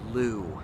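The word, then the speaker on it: Leu: fence his name is jacob liu l-e-u is how you pronounce his last name i'm not sure what nationality that is and jacob lew in particular just gets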